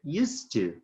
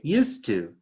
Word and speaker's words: used to: you use to so notice that did used to pronunciation attention come again used to good again used to did you used to